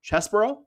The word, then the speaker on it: Chesborough: replacing will be Kyle Chesborough. That's how I've seen that name pronounced previously. I know it's spelled like Cheeseborough, but I think it's normally pronounced Chesborough.